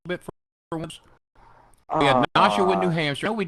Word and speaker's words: Nashua: How do you pronounce it? Nashua.